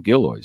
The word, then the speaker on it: Gilloys: And it is, as he pronounced his name, Gilloys.